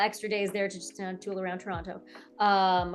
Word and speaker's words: Toronto: days there tool around Toronto. Um, or sorry, Toronto. Got to pronounce it. Yeah. Second T. Toronto. Toronto. Why do we need that second T? Nobody needs it.